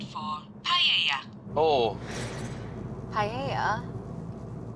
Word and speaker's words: paella: Turn right for paella. Oh. Paella? But we call it paella, but they say paella. Paella. No, paella.